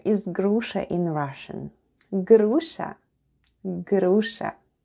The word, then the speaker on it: груша: Grusha, grusha. Let's spell the word grusha. The first sound is g, then we have r, then goes u, sh, and a. And all together it's grusha.